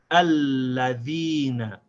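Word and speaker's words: الَّذِينَ: So now how let's say this word smoothly without stopping. We say alladhina.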